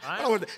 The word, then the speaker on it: Viome: And I can't pronounce it, so I always say, Jared, how do you pronounce it? Biome? Wyome? Biome. That's whatever you say. It's V as in Victor, I-O-M-E.